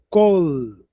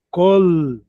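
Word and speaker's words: קול: um som vocálico, mas no hebraico não é o som vocálico, é o L. É L mesmo, é L. Então é col, tem que pronunciar o L.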